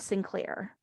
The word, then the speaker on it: St. Clair: haven't heard it pronounced, when you read it, it looks like the child's name is St. Claire, like ST period, Claire, which is even more ridiculously over-the-top and pompous, right?